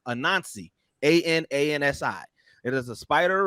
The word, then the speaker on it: Anansi: But there's I hope I pronounce it the right way, but it's Anansi, Anansi.